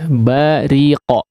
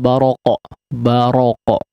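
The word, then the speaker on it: بَرِقَ: Ya, bariqo ya, ri di sini ditipiskan, kondisi huruf ra dibaca tipis ya. Memang sebagian qiraat dia membaca faidza baraqo ya, tapi di sini dikasrahkan huruf ra yang berharakat kasrah dalam riwayat Hafs an Asim di sini maka ditipiskan.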